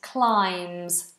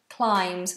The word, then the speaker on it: climbs: arms and your legs your limbs and climbs these are silent bees climbs she climbs the wall